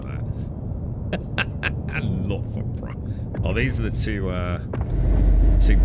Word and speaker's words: Loughborough: Loughborough. It's spelled L-U-F-B-R-A. I like that. Loughborough.